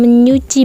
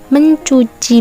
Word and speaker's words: mencuci: Karena cara pengucapannya menggunakan bunyi menyuci menyubit, dan menyeburkan. Dan yang benar bagaimana? Yang benar, Aulia sedang mencuci baju.